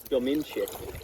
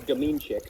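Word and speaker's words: Dominczyk: She's Polish, and her last name is Dominchik, or Dominchik, which sounds like the mean chick.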